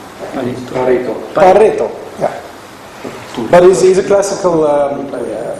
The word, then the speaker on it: Pareto: In English, maybe pronounced Pareto. I think he was Italian, wasn't it? No? Yes. He was Italian. So what would the Italians call him? Pareto.